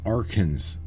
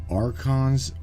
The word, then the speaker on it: archons: network to predict outcomes you referred to them as arkans instead of archons what's what is the correct pronunciation the arkins arkans are not a race but an organization archons are what it's what okay and